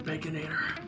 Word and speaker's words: Baconator: Every time I think of the Baconator, it rhymes with Terminator.